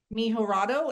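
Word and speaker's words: Mejorado: Mihorado.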